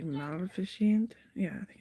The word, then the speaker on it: Maleficent: It's pronounced just like it's spelled. Like kind of like magnificent, but it's like Maleficent. Yeah, I think it's Maleficent.